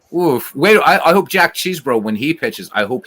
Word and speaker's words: Chesbro: Wait, I hope Jack Cheesebro, when he pitches, I hope he does well because Cheesebro's a 19th century pitcher as well.